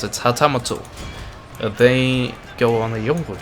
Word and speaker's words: hatamoto: Yeah, that's how they pronounce it. Hatamoto.